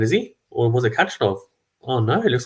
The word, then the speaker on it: Khachanov: Khachanov, or Khachanov even, sorry, I should probably pronounce his name right.